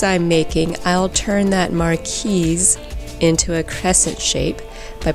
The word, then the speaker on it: marquise: i thought this shape was this which i pronounce marquis i mean it made sense to me a marquee is a position of nobility and the shape is very noble but it's actually this which is pronounced marquise and it took me a while to be